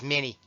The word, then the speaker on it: minie: what became known as minie balls it was named after its crater and pronounced and the US as many Calvary use shorter rifles